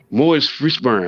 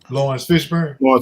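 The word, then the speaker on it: Laurence Fishburne: It's Morris Fishburne. How you say his name? Lawrence Fishburne.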